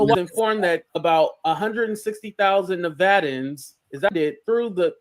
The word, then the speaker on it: Nevadans: Nevadans, that's how you say it, monthly across 12